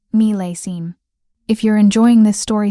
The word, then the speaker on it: millésime: He'd said, meel-ay-zeem, when it should be, meel-ay-seem.